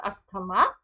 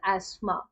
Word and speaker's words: asthma: It is not asthma. In English, we pronounce it as asthma. Now, asthma takes place at the level of bronchioles.